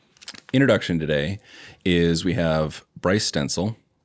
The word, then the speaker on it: Bryce Stenzel: So introduction today is we have Bryce Stenzel.